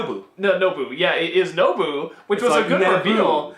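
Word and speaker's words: Nobu: no boo no boo boo yeah it is no boo which was a good Nabil but with nope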